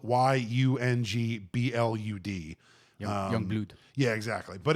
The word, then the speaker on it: Yungblud: Yungblud is spelled y u n g b l u d.